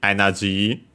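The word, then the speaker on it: エネルギー: a but yeah uh the more common one is actually energy with a short a and long E as for its accent if available. Okay. Yeah. The accent is just like in English on the uh on the first moa energy high and then everything less low.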